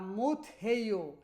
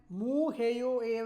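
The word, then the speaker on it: 못해요: এখানে একটানে যদি বলেন মু হেইও, এইভাবে হবে না। এখানে আপনার সেউতের উচ্চারণটা করতে হবে হাদায়ের ক্ষেত্রে, মুথাদা, মুথ হেইও, ঠিক আছে?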